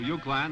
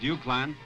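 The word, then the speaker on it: Uwchlan: The first school on the road from Milltown to Euclan, and that's spelled U-W-C-H-L-A-N, pronounced Euclan.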